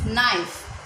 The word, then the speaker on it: knife: Student, K is silent. Okay, K का sound नहीं आएगा। इट इज नाइफ, KNIFE।